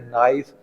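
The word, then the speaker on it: knife: For example, first word है नाइफ, तो यहाँ पर के जो है वो साइलेंट है, के पढ़ा नहीं जाएगा।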